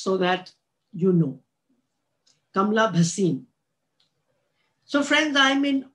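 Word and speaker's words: Bhasin: just want to say that my surname is pronounced as basin not as basin just so that you know kamla bhasim so friends i am in awe of mother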